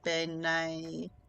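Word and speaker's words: bean sí: I mean, Banshee is what we would call it in America. I think Benai is the original pronunciation.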